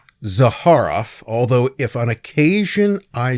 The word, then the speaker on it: Zaharoff: Is his surname pronounced Zaharaf or Zaharof? Well, you'll hear it both ways. And since he's dead and everyone who knew him is dead, we don't know. But I I'm going to go with Zaharof.